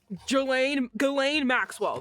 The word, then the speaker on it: Ghislaine Maxwell: Ghislaine Maxwell.